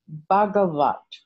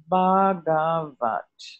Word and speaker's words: Bhagavat: So the Sanskrit terms that are in this sutra that qualify what a Buddha should be are, firstly, Bhagavat. Bhagavat. It's spelt B-H-A-G-A-V-A-T, Bhagavat.